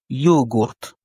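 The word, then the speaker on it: йогурт: Yogourt il signifie yaourt. Ici l'accent tonique est mis sur le ou. Yogourt. Yogurt.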